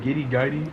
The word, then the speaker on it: Giddey: Do you know Josh Giddey, their pick? Yeah. Is that how you say it? Giddey? Well, no, it's Giddey.